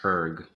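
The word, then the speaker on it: Höegh: pronouncing this right, Hoeg, it has the two dots over the O. They are one of the largest. Oh, that's Herg. Oh, wow. But yeah. Okay. Yeah. That's German? Yeah. I believe so. I can't remember what the two dots over the O are called, but it's like that pronounced like a U.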